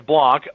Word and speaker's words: Blank: But Blank should actually work, B-L-A-N-K or Blanc, whichever way you want to say it. I know the right way to say it's Blanc, but for spelling purposes,